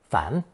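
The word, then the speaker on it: 盘: It's pronounced second tone, 反.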